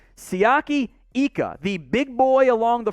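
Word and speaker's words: Siaki Ika: defensive line here make sure i get the pronunciation right sayaki ika the big boy along the front 6'4 350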